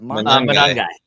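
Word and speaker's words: Monangai: And we saw last week, I'm not going to butcher his name because I can't pronounce names, but the backup running back, is it Monahai? How do you say that? Manungai.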